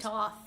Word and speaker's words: Thoth: They're pronouncing it Herreshoff, Thoth with the you TH. diabolical It's supposed to be fiend. Toth.